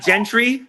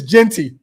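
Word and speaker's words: Jeanty: It's not Gentry. It's Genty.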